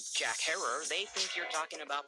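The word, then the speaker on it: Herer: So I knew how he pronounced his own last name. Jack Herrer is here with the book. But I've noticed that most people mispronounce it as Jack Herrer.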